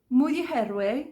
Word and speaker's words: Muryoherwe: But she said that Moriheirwe sounds very similar to move your head away really quickly. So move your head away, move your head away, Muryoherwe, Muryoherwe, Muryoherwe.